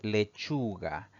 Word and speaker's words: lechuga: Si dividimos en sílabas, tiene tres sílabas. Sin embargo, al pronunciar esta palabra, la mayor fuerza de voz recae en la penúltima sílaba, siempre contando de derecha a izquierda. Es una palabra grave. No vamos a ponerle tilde a esta palabra porque termina en una vocal.